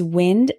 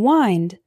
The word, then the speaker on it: wind: Christmas present tear tear our next one is wind and wind wind means moving air for example my dog